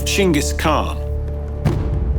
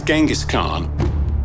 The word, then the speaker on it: Chinggis Khan: new reign name of Chingis Khan. There's this strange thing where the name ended up as Genghaskhan. We think that the way the word got written in Persian, the pronunciation changed.